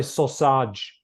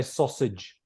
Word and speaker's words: sausage: the edge anything because they'll say sausage but they need to say sausage sausage rhymes with language yeah so how's that like it has an edge ending Edge and sometimes see